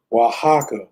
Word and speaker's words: Oaxaca: Oaxaca is the name of it. Right. Oaxaca is spelled OAX.